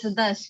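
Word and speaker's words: Dars: Dash? Am I pronouncing it right? Yes, Dash. D-A-R-S.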